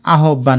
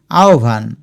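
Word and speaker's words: আহ্বান: এটা সঠিক উচ্চারণ আহবান না আহভান। এইযে আহভান।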